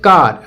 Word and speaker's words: car: देखो जैसे कि कार, अब देखो यहाँ पर से CAR हो गया। अब इसको केयर नहीं पढ़ेंगे भाई, यहाँ पर देखो ए